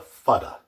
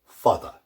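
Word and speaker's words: fada: That's called a fudda. Fudda.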